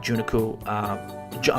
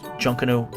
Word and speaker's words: Junkanoo: stuff to do and see while you're at juniku ja I'm sorry Junkanoo museum apologize for some of these pronunciations guys try to try best alright so